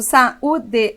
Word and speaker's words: saúde: Quando eu digo saúde, o U está sozinho na sílaba tônica. Ele forma hiato com vogal da sílaba anterior? Forma. Por isso, essa palavra é acentuada.